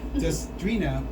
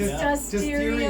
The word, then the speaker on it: Dustiria: Robert and Dustrina. Did I say that right? It's Dustiria. Dustiria.